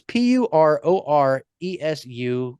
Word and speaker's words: Puroresu: The actual introduction of Japanese pro wrestling, or as they referred to it as Puroresu. Now, it's Puroresu for those people who can actually pronounce words.